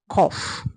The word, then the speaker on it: cough: Except one word and that word is cough. That word is cough.